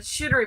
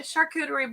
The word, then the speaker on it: charcuterie: to go back and listen and she said shootery board and then i think i don't know if if like production finally told them how to pronounce it because finally alana got it but i mean a charcuterie board is kind of hard to say i